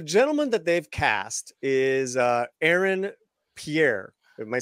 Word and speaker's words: Aaron Pierre: So the gentleman that they've cast is Aaron Pierre.